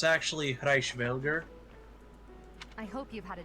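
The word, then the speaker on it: Hresvelg: So, Oh, the way she pronounced it is Reichsvelg, but it's actually Reichsvelger.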